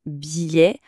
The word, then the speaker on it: billet: On dit bien un billet. On entend presque pas les deux ailes.